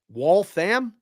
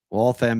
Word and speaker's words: Waltham: Waltham, Waltham, Mass.